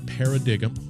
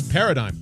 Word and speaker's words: paradigm: with paradigm Human Performance not para dig'em I know it's spelled that way but it's paradigm paradigm paradigm human performance she's